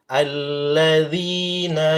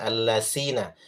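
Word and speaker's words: الذين: Alladzina yabkhaluna. Alladzi lembut, bukan allasina.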